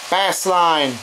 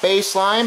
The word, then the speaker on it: Bassline: off with team ticker bass line not no not baseline bassline mark come on are you trying to be serious it's pronounced with an s not with an e geez i don't know